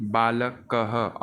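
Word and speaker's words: बालकः: जैसे कि बालक कह, और इसका देखो प्रोनाउंसिएशन भी ह हो जाता है।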